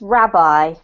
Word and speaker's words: rabbi: a parent who worked as a minister or rabbit and thus would interact with a lot of people great this is pronounced Rabbi Rabbi yeah so that's a Jewish clergy person